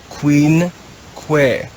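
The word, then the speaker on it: quinque: are always found together the word is read queen que even though there are seven letters in that word it's only two syllables the word queen que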